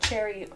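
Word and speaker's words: chary: reluctant to do something Cherry like like cherry tree yeah okay so Cherry is apparently correct so cautiously or suspiciously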